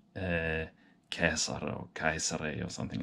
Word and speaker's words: Caesar: Caesar, or, I'm usually, when I'm pronouncing Latin names and places, I'm going for the hard C usually, but I will do an exception with Caesar because, that's just the best known name that he's known under.